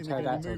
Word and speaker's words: pterodactyl: It's like, why can't you hear a pterodactyl go to the loo? Why? Because the P is silent.